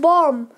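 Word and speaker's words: bomb: तो स्टार्ट करते हैं बॉम।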